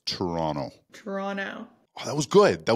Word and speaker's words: Toronto: And if you want to fit in Toronto, it's not Toronto. That's how we'll peg you as an American right away. Toronto. That last C is silent. It's Toronto. Toronto.